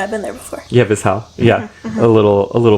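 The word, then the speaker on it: Vizhay: they uh ended up at this Village called vizal mhm that's how you pronounce it yeah I've been there before yeah visal yeah a little a little V Village of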